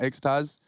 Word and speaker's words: xTaz: say his name properly he said like the thing you take in the nightclub you know xaz ah okay okay that's